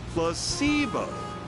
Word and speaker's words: placebo: to our vocabulary today repeat after me placeo H the stress is on the middle syllable very good you're fainting